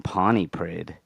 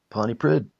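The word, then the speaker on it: Pontypridd: Later he worked as a taxi driver in Pony Prid. Is that how you pronounce it? Ponty Prid. Ponty Prid.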